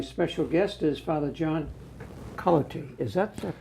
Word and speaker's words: Culloty: And I have with me my special guest is Father John Culloty. Is that pronounced?